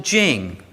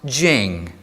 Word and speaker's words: Ching: is spelled with a t and Jing is pronounced Jing okay that's not helpful but c h i n g is pronounced Jing and so it is the Dao de Jing it means roughly the book of the way